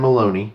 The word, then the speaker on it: Maloney: Turns out it was a guy by the name of Dan Maloney, spelled like baloney almost, or sounds like baloney.